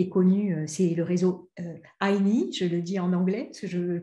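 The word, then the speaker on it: INEE: C'est un réseau qui est connu, c'est le réseau INI, je le dis en anglais, parce que je pense que c'est plutôt comme ça qu'il faut le prononcer.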